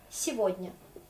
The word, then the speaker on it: Сегодня: Vous allez voir que ce gay, on va prononcer comme V.